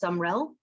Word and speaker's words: Sumrell: want to ask you your last name is pronounced sumrell yep okay so do you